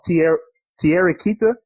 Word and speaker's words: Thierry Kita: helps you out a lot, but I saw Thierry Kita.